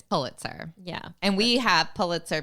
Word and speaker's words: Pulitzer: say this word and I decided to go with poo so that's what I'm doing and I'm saying Paul it's Pulitzer yeah and we have